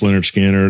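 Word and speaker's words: Lynyrd Skynyrd: then 73 is when they put out that Pronounced Leonard Skinner, and then 77, that's it.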